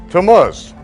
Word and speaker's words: Tammuz: Can anyone pronounce that for me? Tammuz.